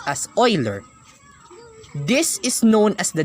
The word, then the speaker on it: Euler: e which stands for the Euler's constant it's pronounced as Euler this is known as the natural logarithm and